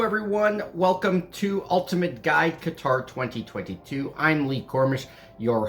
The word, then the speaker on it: Qatar: are a Qatar resident, and yes, it is pronounced Qatar. If you hear any other pronunciations, that is incorrect.